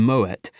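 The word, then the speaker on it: Moët: it was weird that you pronounce the T in Moet, but not Merlot.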